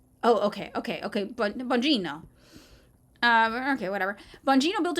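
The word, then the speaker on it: Bongino: Like you're just it's a soft G. Oh, okay. Okay. Okay. Bonjino uh Okay, whatever.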